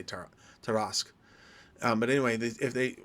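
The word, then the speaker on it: Tarrasque: I don't know exactly how do you you guys choose to pronounce it but I say ter teras um but anyway if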